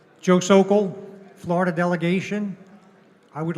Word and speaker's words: Sokol: Joe Sokol, Florida delegation, I would like to nominate Eric Parker from North Carolina.